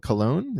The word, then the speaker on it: Cologne: tiny Town it sounds like in Germany called cologne is that how you pronounce it yes right yeah okay near cologne